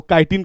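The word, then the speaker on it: chitin: जिसको आप कहीं कहीं प्रोनाउंसिएशन के अकॉर्डिंग चिटिन भी कह देते हैं, सिंपल और साधारण वे होता है उसका काइटिन कहते हैं। क्या कहते हैं? काइटिन कहते हैं, ये याद रखिएगा।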